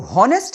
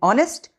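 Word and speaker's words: honest: ऑनेस्ट की spelling आप देखिए। एच ओ एन ई एस टी लेकिन इसको हॉनेस्ट नहीं बोलते। इसको बोलते हैं ऑनेस्ट और इसको बोलते हैं आवर क्योंकि इसमें एच साइलेंट रहता है।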